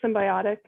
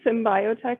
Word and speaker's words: Symbiotic: actually haley's company um is this pronounced symbiotic haley yes yes i always say symbiotech in my head it's okay it's the way it's written okay so some symbiotic